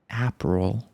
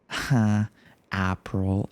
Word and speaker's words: April: For example, one time I was talking to my friend who's American and then I said aperal and then he laughed at me. He said, "Apppril."